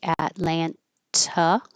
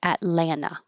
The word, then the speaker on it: Atlanta: You can say Atlanta with the T or drop the T. Atlanta.